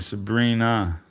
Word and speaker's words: Sabrine: Oh, it's spelled like Sabrine. But you say my name Sabrina.